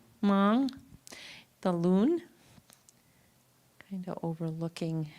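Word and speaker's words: mang: one with the m is it pronounced ming mong the loon kind of overlooking.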